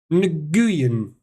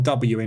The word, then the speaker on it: Nguyen: Pronounced win, is it? How'd you get win out of that? Nguyen.